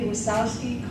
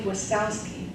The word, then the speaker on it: Wasowski: by Andy and Sally wasowski see didn't spell it w there's a J in there no O wsk K I just like it sounds was yeah those are